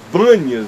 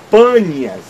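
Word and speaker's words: Banias: Bas ganha seu nome porque os os árabes não conseguem pronunciar o p por isso é que se chama de banas e não de de Pan seria de panas de onde vem essas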